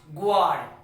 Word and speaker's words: guard: So here you will pronounce it guard, not guard. It is pronounced what? Guard. So U will be silent.